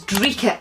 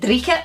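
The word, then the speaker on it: dreich: faves, and that is dreeket. I tend not to say it rolling my R's, but some other people who say it might pronounce it dreeket. I say dreeket rather than dreeket.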